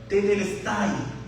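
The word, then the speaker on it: τετέλεσται: La palabra consumado es, en el griego, se describe o se pronuncia tetelestai.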